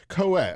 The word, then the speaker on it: Caouette: Now how do you how do you even pronounce your last name? I I don't want to say it wrong. Coet.